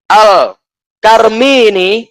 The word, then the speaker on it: al-Karmi: Wa qala Khalaf ibn Muhammad al-Khayyam, sami'tu Mahid ibn Sulaim al-Karmi ini ya akhirnya cara bacanya ya, Karmi ini.